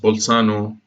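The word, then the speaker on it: Bolzano: wrote in German okay so in Italian it's pronounced pole Sano and the other one was vitro's german mathematician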